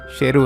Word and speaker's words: शेरू: उसका नाम सरू नहीं शेरू है, जिसका मतलब होता है शेर।